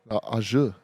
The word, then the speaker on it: au jus: Ajou, prime dip place. Is that how you say it? Ajou? Oh yeah, au jus.